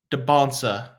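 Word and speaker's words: Dybantsa: So Debonsa. That's what he said. He said the T is silent, so that's what I'm going to go with.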